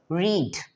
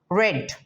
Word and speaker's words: read: When we pronounce this, it sounds like read.